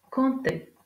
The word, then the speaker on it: compter: D'un P, un sculpteur, 7, compter. Dans ces exemples, on ne prononce pas la lettre P.